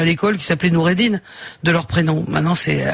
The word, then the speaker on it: Noureddine: Ouais, mais dites Noureddine, parce que moi... Noureddine. J'ai toujours prononcé comme ça.